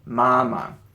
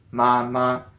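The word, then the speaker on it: 妈妈: When you have a repeating word, the second one often kind of drops the tone. So you just go mama as opposed to mama.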